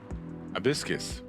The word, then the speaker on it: Hibiscus: That is pronounced Hibiscus.